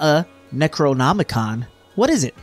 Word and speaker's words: Necronomicon: left this funny looking necromicon on my doorstep it's not an acronomicon Necronomicon I've been saying it wrong this whole time it's not pink silly